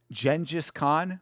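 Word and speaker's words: Genghis Khan: Um, if you if you want to watch a uh a really interesting video about Genjis Khan, which I apparently is the is the actual pronunciation.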